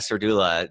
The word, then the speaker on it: Serdula: Jersey near Cherry Hill my guest is Donna Sir doula Donna welcome to beyond the uniform oh hey